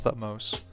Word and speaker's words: Thutmose: I was right, it's Thutmose.